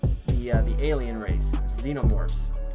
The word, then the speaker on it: xenomorphs: uh the alien race xenomorphs that's technically spelled with an X but it has a pronunciation of a Z.